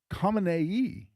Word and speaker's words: Khamenei: in Iran, who's Ali Khamenei, a little different, spelled different, it's got at least one additional syllable on it.